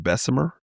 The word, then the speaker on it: Bessemer: No, it's it's it's pronounced it's supposed to be pronounced Bessemer. Bessemer, right? B S E M E R Bessmer, Alabama.